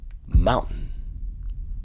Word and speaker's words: mountain: Take a look at this word. Instead of this word being pronounced as mountain, mountain, mountain, mountain, mountain, right? So the T is removed.